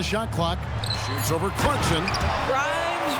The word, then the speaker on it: Grimes: Grimes rhymes with dimes.